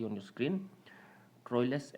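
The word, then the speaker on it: Troilus: सी on your screen ट्रॉयस एंड क्रेटी modern English यह इसका उच्चारण है इ पोयम बाय जफ्री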